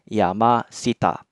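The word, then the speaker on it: 山下: bawah atau kanji Sita maka kanji gunungnya tetap dibaca Yama ya jadinya Yama Sita nah ini juga salah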